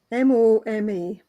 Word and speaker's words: Moma: Is that how we pronounce it? Moma? Or is it Mama? M-O-M-A. Moma.